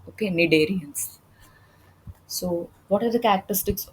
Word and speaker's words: Cnidarians: C is silent, okay, Cnidarians. So, what are the characteristics of this members of the group Coelenterata or Cnidarians?